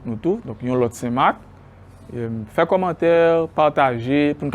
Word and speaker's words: Saint-Marc: Si nous prenons par exemple nom ville Saint-Marc, actuellement ville là, Saint-Marc, nous avons tendance à enlever C pour nous joindre prononciation Saint-Marc.